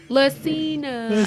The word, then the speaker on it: Lessina: Wow, Lessina, say it right. Lessina. I know, it's a little different. It's unique. It's okay.